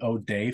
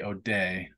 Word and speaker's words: O'Dea: them, and it's the O'Day family. And in Ireland, I guess it's pronounced O-D, but the Americans say O'Day. O'DEA.